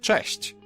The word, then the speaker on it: cześć: Now Polish ch is a bit harsher than its English counterpart, but there's also a comparable softer sound, ch. You can hear both in the word cześć.